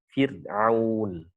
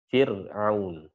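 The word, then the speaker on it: فرعون: Fir'aun, fir. Nah, itu getarannya nggak terlalu kelihatan. Fir'aun. Jangan diucapkan Fir'aun. Ya, tipis. Benar-benar tipis. Taib.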